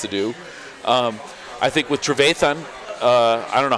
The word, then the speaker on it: Trevathan: I think with Trevathan, I don't know, how do you pronounce his name? Trevathan? Trevathan. Trevathan, you got it.